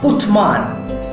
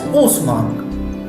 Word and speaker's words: Uthman: Now, the third Khalifa, Uthman, you can pronounce it also as Osman. Okay, you can say it Uthman or you can say it Osman. Both are same.